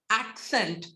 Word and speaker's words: accent: Okay so The Sounds the words like accept access accent have the ax pronunciation because other of a